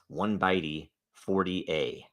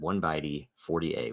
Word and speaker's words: 0x14a: It is the that's 1byte 40a is how you pronounce that. 1byte 40a, 14a.